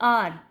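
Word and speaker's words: hour: आपके पास अलिफ की साउंड दे रहा है, आर।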